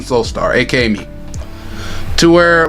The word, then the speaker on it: Soulstar: Hey, all you gotta know is pronounced like the first part is pronounced, and the last name is pronounced the last name is pronounced Soulstar.